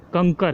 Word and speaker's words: कंकर: कंकर मैंने जो शब्द का उच्चारण किया हो, कंकर नहीं है, कंकर है। क पे बिंदी, फिर क और लास्ट में र है।